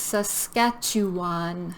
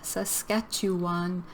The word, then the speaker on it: Saskatchewan: This is Saskatchewan. Saskatchewan. So how many syllables here? We have Saskatchewan. 4 syllables.